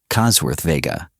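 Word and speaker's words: Cosworth Vega: The Chevrolet Cossworth Vega, pronounced Cossworth Vega.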